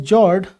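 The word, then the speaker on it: fjord: it is pronounced as Jord that is if we try to write it we would call it g r d f is silent so these are beautiful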